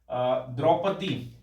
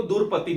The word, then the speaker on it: द्रौपदी: ठीक है, जैसे आप लोग सुनोगे गांव में द्रौपदी, द्रौपदी को दूरपति, दूरपति बोलते हैं गांव में, दूरपति, है ना, कि प्रोनाउंस नहीं कर पाते हैं।